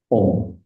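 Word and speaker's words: ॐ: So Om, there are three letters combined together. A-O-Ma, Om.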